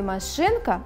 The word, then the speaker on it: машинка: В слове «машинка» ударным является второй слог, слог «шин», а слоги «ма» и «ка» являются безударными.